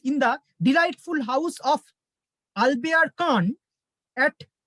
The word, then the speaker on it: Albert Kahn: the delightful house of Albert Kahn at Cap Martin, French উচ্চারণে কাপ মার্তা, আর French উচ্চারণে এই ভদ্রলোকের নাম হচ্ছে আলবেয়ার কান।